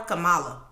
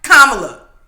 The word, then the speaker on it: Kamala: And then he pronounced her name wrong. Calling her Kamala. No, what he called her? Kamala. Get it right. Kamala.